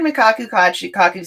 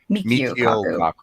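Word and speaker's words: Michio Kaku: And I've heard Mikachi Kaku say that in a Kaku how do I pronounce it? Mikio Kaku.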